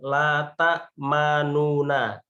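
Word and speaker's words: لا تأمنا: Jadi ta, ma, nuna, nunya pas nu itu suaranya nggak keluar atau cukup di dalam hati. Tapi diganti dengan mulutnya yang mencucu.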